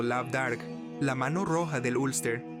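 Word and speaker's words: Lamh Dearg: De Lam, una mano, que significa el artífice, el discípulo o sacerdote del sol, de ahí el simbólico Lamderg, pronunciado Labdarg, la mano roja del Ulster.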